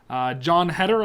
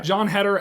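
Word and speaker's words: Jon Heder: film called Mama's Boy, and you actually had John Heder, I think I pronounced it right. My pronunciation's That's right, yeah. John Heder as kind of one of the main roles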